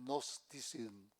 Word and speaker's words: gnosticismo: Gnosticismo, que se escribe G de gloria, sí, los gnósticos.